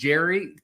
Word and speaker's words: Gerry: It's named after Eldridge Gary. It's actually pronounced Gary, but gerrymandering is what